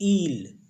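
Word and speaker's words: ils: अगर उनके लिए बोलेंगे कि दे, अगर ये मेल का ग्रुप है तो उसके लिए हम बोलते हैं ईल, ELS, ईल।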